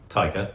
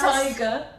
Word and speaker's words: Taika: Taika, not Yes. Tiger. You said Taika. Tiger. What is it? Taika. Taika. How do you spell it? Taika. Oh, Taika. Sorry. Have you sorry, been saying Taika. Tiger with TT All all the this time. Oh yeah, no, Taika.